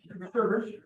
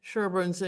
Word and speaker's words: Sherborn: Sherborn is spelled differently, but pronounced the same way as it's typically pronounced by you all, not Sherborn, like we would say from our Minnesota. But you guys call it Sherborn a lot of times, Sherborn.